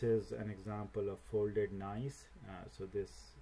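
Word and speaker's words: gneiss: an example of folded nice so this this word is is pronounced as nice so that is a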